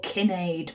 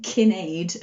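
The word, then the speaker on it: Cináed: and i was approximating it turns out it's probably that kinade as i was saying is probably pronounced kenneth kenneth king of the scots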